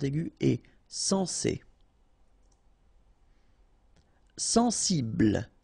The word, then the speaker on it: sensible: Sensible. Okay, final E not pronounced. Bl will be the last sound.